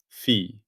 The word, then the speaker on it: phi: Fee, spelled fe pronounced fee.